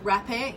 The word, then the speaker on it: rapé: Please Google rapé if you want to find out a little bit more about it. It's spelled R-A-P-E, rapé.